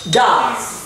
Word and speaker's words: does: lại khác hẳn đi không đọc là do mà đọc là does nhớ chưa nào và